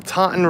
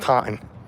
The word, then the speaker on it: Taunton: for the Taunton River Taunton t-a-u-n-t-o-n River but because of where we're from it's just time try to try to spell that one time there's like we're missing like fall letters there exactly how it's spelled it's the dawn River yeah so this was